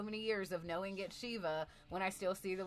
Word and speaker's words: Siva: Savior William Patrick Corgan pronounces it Shee-va, as in like the Hindu Shiva. So that's how we're going to pronounce it. But still to this day, after so many years of knowing it Shee-va, when I still see